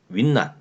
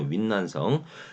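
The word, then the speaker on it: 云南: 이 사람이 제일 힘이 셌는데 윈난, 지금의 운난이죠. 우리말로 하면 운남성이고 중국 발음으로 윈난성.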